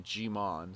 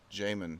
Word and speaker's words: Djimon: So we would always be calling him Djimon. So we'd be putting the emphasis on the first part. Yeah. It's actually J, like Djimon. Djimon. But when you're pronouncing it, it's almost like Damon.